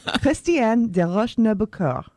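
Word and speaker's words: Christiane Desroches Noblecourt: Her name was, pardon my pretentious pronunciation, Christiane de Roche-Nobecourt. That's how it's said in French.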